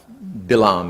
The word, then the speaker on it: Balaam: it for since messengers to bail Balaam is actually how it's pronounced issue said behold there's